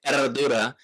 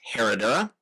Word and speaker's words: Herradura: The brand Erdura is challenging for Americans because it's got the silent H and the double rolled R. And again, I don't pretend to always be able to pronounce it correctly. So, you will often hear this brand anglicized as Herodora.